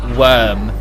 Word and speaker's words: Wyrm: it does bother you the official pronunciation of the word spelt Wyrm is worm not wine not rhyme worm rhyme is something that became